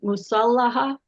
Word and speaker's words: Musallaha: Musallaha, is that how you say it?